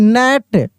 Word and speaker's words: gnat: GNAT, नेट, क्या पढ़ देते हैं हम लोग?